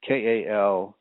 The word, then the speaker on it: Khalsa: that you Google Sukhmander Singh Khalsa, and that is spelled Sukmander, and Singh is Singh, and then Khalsa is Kalsa, Khalsa.